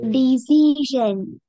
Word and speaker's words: decision: Do you say, Decision.